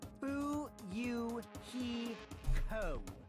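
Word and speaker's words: Fuyuhiko: last name is my first name is pronounced boo you he co i'm still an inexperienced member of my family's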